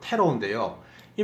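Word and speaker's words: tarot: 타로카드 타로카드란 말이 있잖아요 그 말에 정확한 발음은 테러인데요이 말은 무슨 말인가 하면요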